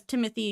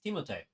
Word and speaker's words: Timothée: It has Timothée Chalamet, which is not how you say his name. It's Timothée.